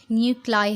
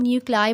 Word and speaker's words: nuclei: न्यूक्लाई NUCLEI, ये spellings actually न्यूक्लियस का plural हैं। एक न्यूक्लियस होगा तो हम उसको न्यूक्लियस बोलेंगे, 2 या 3 या 4 ज़्यादा न्यूक्लियस होंगे तो हम न्यूक्लियस नहीं बोलते, हम न्यूक्लाई बोलते हैं।